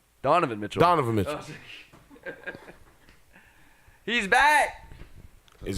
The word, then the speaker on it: Donovan Mitchell: mention topics this is got one minute left Bevan Mitchell any thoughts who is Devon Mitchell pronounce his name wrong Donovan Mitchell Donovan is he's back is he back so